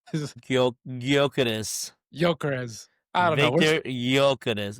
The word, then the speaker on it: Gyökeres: right," and then I finally hear how it's pronounced, and I'm like, "This is Gyökeres.